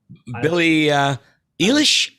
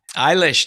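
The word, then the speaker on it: Billie Eilish: uh billy ellis uh billy uh elish am i pronouncing that right eilish that's right uh sometimes you gotta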